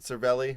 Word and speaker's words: Cervelli: Is that how you pronounce it? Cervelli?